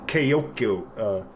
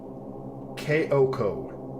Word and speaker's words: Kyoko: Kayokyo, Kayokyo? Kayokyo? Kayokyo? That sounds stupid. Kayokyo? Is that seriously how you pronounce her name?